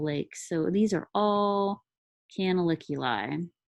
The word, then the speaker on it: canaliculi: canals are called canaliculi can I lick your eye if that helps you to remember that it's not spelled that way but if it helps you remember how to pronounce it canaliculi they are all of